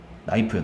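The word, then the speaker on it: knife: 나이프요, 나이프. 나이프, 칼. 네. 처음에 그 생각 안 해봤어요? 네? 왜 저게 큰 나이프가 아니라 나이프지? K가 묵음이잖아.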